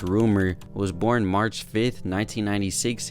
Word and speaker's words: RMR: to the artist rumor RMR pronounced rumor was born March 5th